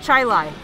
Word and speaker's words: Chili: you say Albany yes chai lie but it's spelled chili I know that place